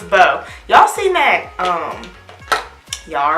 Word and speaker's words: Beau: right boom boom boom right I said it right first though okay so it's bow y'all see Meg um